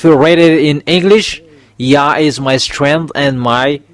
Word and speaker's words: Yah: It's Yah.